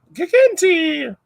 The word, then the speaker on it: gigantea: So the Dinopanera gigas was changed to Gigantea or Giganti. Yeah. Giganti! I'm going to say it like that.